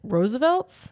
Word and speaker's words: RSVLTS: I can't pronounce it it looks like rose Roosevelt's or rsvlts it's Roosevelts they do they spell it they shorten it but it's a it's